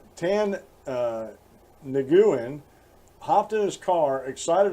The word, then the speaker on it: Nguyen: Nguyen, N-G-U-Y-E-N, or Guyen if you don't pronounce the N, said that the cop threatened to seize and tow his car if he spoke up about it.